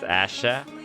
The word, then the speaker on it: Asia: Pronounced Asha. A-S-I-A is pronounced Asha.